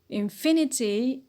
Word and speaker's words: infinity: syllable we stress it infinity infinity stress on fee because of the 80 syllable suffix sorry difficult difficult stress on